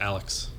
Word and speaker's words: ANELF3: That's pronounced Alex.